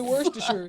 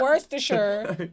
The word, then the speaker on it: Worcestershire: You say Worcestershire. It's Worcestershire. That's how you say it.